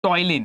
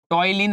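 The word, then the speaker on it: ptyalin: दे दो which is टॉयलीन। क्या बोलते हैं उसको? टॉयलीन एंजाइम। अब टॉयलीन में ना पी साइलेंट होता है।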